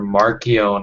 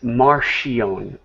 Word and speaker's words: Marcion: And James White says Marcion, like it's SH, Marcion. Yeah, I've heard guys say Martian.